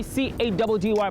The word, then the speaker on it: Caddy: It's mission time with your boy C-A-D-D-Y, pronounced Caddy.